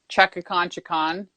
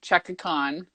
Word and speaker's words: Chukan: So when you're trying to figure out how the hell to say my name, all you got to do is think Chukan, remove the extra ka, Chukan.